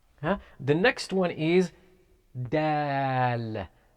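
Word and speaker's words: دال: the next one is dal it's simple it's like saying dad it is pronounced from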